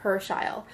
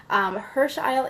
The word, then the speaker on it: Herschiel: like who these angels are so they're called Hersh Isle angels okay that's how you pronounce it I wrote it in the description of this video it's pronounced Hirsch Eyal Hirsch Eyal angels why they're here who they are why